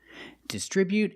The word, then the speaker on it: distribute: Today we're practicing with these two words, distribute and distribution. The pronunciations are a little different. So let's get started. First, let's look at the verb distribute. We put the stress on the second syllable.